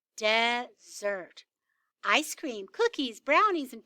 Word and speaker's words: Desert: on an island called mount desert she pronounced dessert ice cream cookies brownies